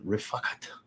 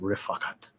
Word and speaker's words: Rifakat: Ordered Camaro and Rifakat. That's actually how you say it. Rifakat.